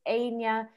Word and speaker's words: Áine: are interested in is my name because it's anya normally it's pronounced anya so people kind of think it's